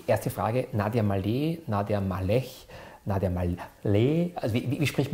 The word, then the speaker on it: Maleh: Syrien und das, also korrekt ausgesprochen heiße ich Malech. Malech, also Malech. Das heißt, aber damit also, die Leute nicht das Gefühl haben, sie müssen schreiben, wenn sie meinen Namen aussprechen, Malé. Ja, also Malé.